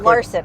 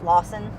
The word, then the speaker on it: Larson: It's Larson. I pronounced her last name wrong. Brie Larson? Yeah, I thought it was Lawson. Go ahead.